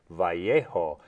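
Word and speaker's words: Vallejo: basil the great um Elementary School in in valo California is what we called it but since I've moved to New Mexico I know it's pronounced vjo named after General lisimo Mariano Guadalupe Vio the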